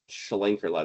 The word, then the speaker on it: Schlenkerla: it's no one orders it because you can't even pronounce it. Schlenkerla.